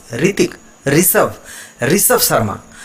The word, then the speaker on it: ऋषभ: ये जो री है नीचे वाला, इस पर थोड़ा सा प्रेशर ज़्यादा पड़ता है। जैसे र और र, री और री, है ना? री, ऋतिक, ऋषभ, ऋषभ शर्मा।